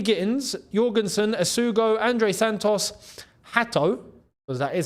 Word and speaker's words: Hato: We got Jamie Gittins, Jorgensen, Asugo, Andre Santos, Hato, because that is how you say it.